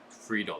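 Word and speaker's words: Friedl: Friedel, that's how you pronounce the name, and Joe Ryan, Prism rookie.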